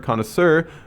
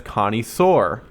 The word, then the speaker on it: connoisseur: the inflection for example mae says the word connoisseur she pronounces it as connie soare connie soar that would make a